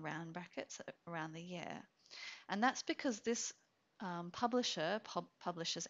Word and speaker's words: v: note is in Australia we do not pronounce the V between the party names in civil cases we use and so you would have